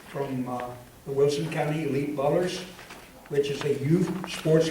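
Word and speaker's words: Ballerz: Just like Ballers, B-A-L-L-E-R-S, but with a Z.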